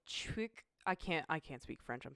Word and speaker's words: CHIQ: is pronounced like chick.